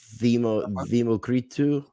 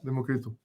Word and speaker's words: Democritou: Yeah, because the correct pronunciation of your name, if I remember, Zeus is in Greek. Democritou. Yeah, Democritou.